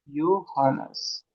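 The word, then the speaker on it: Johannes: इसको कहेंगे योहानस। इसको कैसे प्रोनाउंस करोगे? योहानस।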